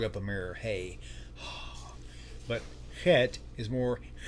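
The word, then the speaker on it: חית: This is the hey, and this is the chet. The difference between the two on the sound phonetically, the hey makes like the H sound. The chet makes like it's like a hissing cat.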